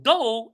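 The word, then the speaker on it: dough: and cough and do so do it rhymes with no all right we have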